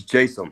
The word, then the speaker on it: Jaysam: Is it Jaysam or Jaysam? So it's actually neither. It's Jaysam.